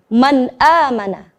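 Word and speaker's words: مَنْ آمَنَ: Maka kita tidak boleh membacanya dengan terlalu lama. Contoh yang salah adalah man amana, man amana. Itu adalah bacaan yang kurang tepat. Maka yang tepat adalah seperti berikut.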